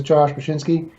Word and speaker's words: Bachynski: So my guest today is Josh Bachynski.